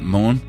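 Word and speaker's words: Møn: people and danish landmarks as we would say it in Danish so the island of moon is actually pronounced Moon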